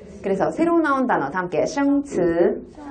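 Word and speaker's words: 词: 다음께 그래서 새로 나온 단어 다음께 츠. 츠. 그렇죠? 츠. 자, 단어예요. 단어는 사라고 불려지고 이렇게 발음합니다.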